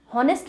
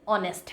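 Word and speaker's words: honest: तो अगर आप सही प्रोनाउंस करोगे तो आप सही आंसर भी लिख कर आओगे। हॉनेस्ट नहीं है, ऑनेस्ट है।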